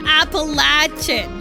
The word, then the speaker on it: Appalachian: I cannot tell you how much of a pet peeve it is if somebody pronounces Appalachian. Like, go away. It's called Appalachian.